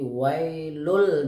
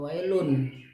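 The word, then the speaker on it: ويل: Jadi wailul dibacanya bukan wailun. Wailul likulli humazatil, bukan humazatin dibacanya, tapi dibaca humazatil lu karena di situ ada sabdul lam ya.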